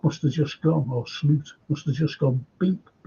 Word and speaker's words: Slot: guys you you're right this pronounced slute of course it said i ph him up and I said hello Mr the slot he said it's slute prank I said oh okay